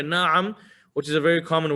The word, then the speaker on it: na'am: the middle na i'm in arabic pronunciation over here na'am which is a very